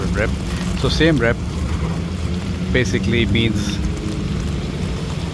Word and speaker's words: Siem Reap: rep but most people call it rep so Sam rep basically means C defeated which is Thailand Sam